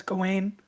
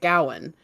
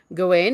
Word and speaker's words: Gawain: a wonderful job but she was pronouncing it gowen so that's what threw me off maybe she likes rose